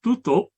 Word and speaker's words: tutup: Similarly, the word spelled T-U-T-U-P is pronounced tutup in Sebutan Johor Riau, but tutup in Sebutan Baku.